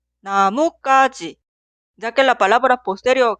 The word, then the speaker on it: 나뭇가지: Esta palabra se pronuncia 나뭇가지 o 나무까지, ya que la palabra posterior 가지 suena en el sonido forzado ka.